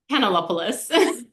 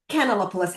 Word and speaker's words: Kanellopoulos: Canalopoulos. Canalopoulos.